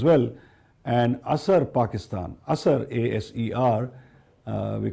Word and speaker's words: ASER: And ASER Pakistan, ASER, A-S-E-R, we call it ASER. The pronunciation is ASER, which means impact in Hindi, Hindustani, and Urdu.